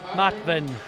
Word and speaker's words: Matwin: Matwin. It will be pronounced Matwin, the Łukasz Matwin.